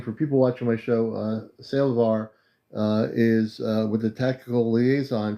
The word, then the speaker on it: Sael'Var: Commander Aleon, the name is Sael'Var, pronounced roughly Sael'Var with a light pause at the apostrophe.